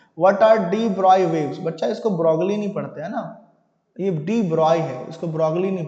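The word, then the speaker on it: de Broglie: आपको पता नहीं होगा, इसको डी ब्रॉय कहते हैं। अब बोलोगे सर ब्रॉय तो BROY होना चाहिए, ये तो कुछ और है, नहीं बच्चों, फॉरेन लोगों का प्रोनाउंसिएशन लैंग्वेज जर्मन नेम हो सकता है, फ्रेंच नेम हो सकता है, ऐसा ही होता है।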